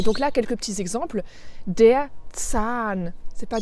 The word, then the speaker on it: Zahn: Donc tu vois, la voyelle qui est juste avant le H est plus longue. Par contre, le H n'est pas prononcé comme un H. Donc là, c'est un H muet.